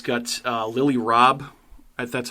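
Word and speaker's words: Rabe: is the strong point it's got uh lily robb that's how you pronounce her last name she's been in a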